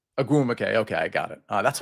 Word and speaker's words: Ogwumike: Pronounce the name one more time for me. Nneka Ogwumike. Agumake.